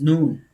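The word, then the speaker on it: نون: So noon, after that, the makhraj of the pronunciation of noon, this is noon. Noon. Noon. Noon. Tongue tip touches gum line.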